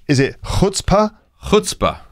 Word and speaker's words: chutzpah: Next one, pronounced, is it chutzpah? Chutzpah. Not chutzpah. No, chutzpah. Chutzpah. It's spelled C-H, but you pronounce it chutzpah.